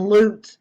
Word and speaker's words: Lutz: missing family from Illinois the Lutz family and loot is how it's pronounced guys my sister-in-law used to be elutes